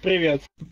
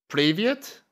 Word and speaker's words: привет: Привет. Hello is привет. Привет? Is that? No, am I saying it wrong? Привет.